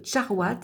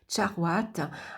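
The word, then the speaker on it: charoïte: Donc une découverte ici récente, la charouate, on dit donc charouate, elle se prononce comme ça, charouate, a été découverte dans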